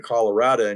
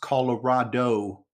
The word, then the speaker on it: Colorado: What's interesting in your home state of Colorado, and you can probably opine on this a little bit more better than I. Well, but, and by the way, Mark, it's pronounced Colorado, not Colorado. Colorado.